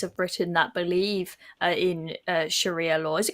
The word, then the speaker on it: Sharia: on the streets of Britain that believe in Sharia law is it called Sharia or sharah how do you pronounce it Sharia and you know I saw